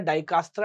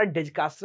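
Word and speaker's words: Dijkstra: एक सॉल्व करता है डाई काट्रा डिज कास्ट जो आप बोल ले जे मे be silent and वन is called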